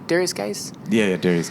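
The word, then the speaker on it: Guice: Darius Geis? Yeah, Darius Geis.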